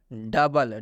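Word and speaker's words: double: silent हो चुका है डबल डबल में भी ओ के बाद से यू आया हुआ है और जब भी ओ के बाद से यू आता है तो इस ओ का उच्चारण नहीं किया जाता और यहां पर हम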